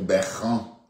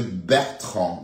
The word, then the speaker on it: Bertrand: Elle dit qu'elle vient pour Beran. Bertrand c'est Bertrand.